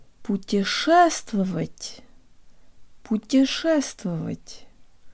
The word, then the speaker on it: путешествовать: to tell you about Russian words usually have only one stressed syllable and all the other syllables are much shorter and less emphasized than unstressed syllables in English and we can really make this word sound Russian by de-emphasizing every syllable except the stressed one it's not put your chest velvet but rather put your first of it put your ass to